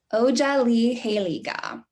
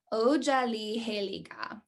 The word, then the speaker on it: Otsaliheliga: english word would be completely different than how it's supposed to be pronounced in the cherokee language so every language even